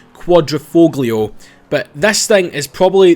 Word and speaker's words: Quadrifoglio: I believe that's how you pronounce it, not the way Jeremy Clarkson said it. The Quadriog. I do that is quite a quite a tongue twister of a name, but I believe it's Quadroofoglio.